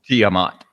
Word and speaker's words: Tiamat: tamat Tate is that how you say it Tiamat Tiamat Tiamat oh yeah yeah that's a Tiamat